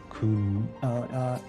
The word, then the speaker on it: Khnum: Knum? Okay, it's Kun. The pronunciation.